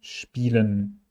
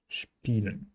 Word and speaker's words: spielen: Statt stehen, spielen und Spaß are using this SCH-T combination, st and SCH-P. Sp, spielen, Spaß.